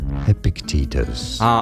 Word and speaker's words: Epictetus: It is normally pronounced as Epictetus.